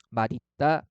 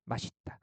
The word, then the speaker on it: 맛있다: 두 가지 발음을 다 허용하죠. 그래서 맛있다, 맛있다. 그죠? 대표음으로 발음한 다음에 연음하는 것도 허용하고요. 시옷을 그대로 연음하는 것도 허용을 해요.